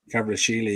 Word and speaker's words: Kvaratskhelia: How do you pronounce that again? Is it Kvaratskhelia or something like that? Kvaratskhelia, yeah.